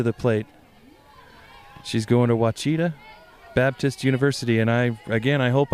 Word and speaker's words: Ouachita: She's going to Ouachita Baptist University, and I hope I'm pronouncing that right.